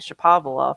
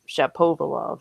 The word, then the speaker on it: Shapovalov: It's like that middle syllable throws people off, and then they didn't. And I was saying Shapovalov. That's what I thought it was, but it's Shapovalov apparently.